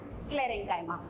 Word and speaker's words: sclerenchyma: Little bit different pronunciation, but pronounce like this only, parenchyma and sclerenchyma.